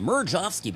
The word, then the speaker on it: Mirejovsky: Mirejovsky, by the way, people ask me, how do you spell that? Well, I know how to spell it. It's so funny. I'll spell it. It's Mirejov, and I always would say like Victor, so people would know. And then I say SKY, like sky, and that's because it's a Czech name.